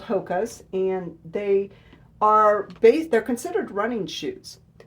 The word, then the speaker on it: HOKA: Okay, so you pronounce this HOKA, H-O-K-A.